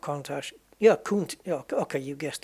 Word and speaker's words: Countach: Like mustache. That's what I said. Like mustache. Or yeah, Countach. Yeah, I don't really want to split the syllables up, but Kuhn and Tash.